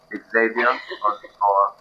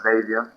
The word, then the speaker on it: Xavier: I am sitting here with, is it Javier or Xavier? I've heard it pronounced both ways. I'm not Mexican, so Xavier or Xavier is good.